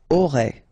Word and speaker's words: aurai: Okay, so one more time, j'aurai, remember, A and O together will produce this O sound, A and I, E, aurai, alright, then tu auras,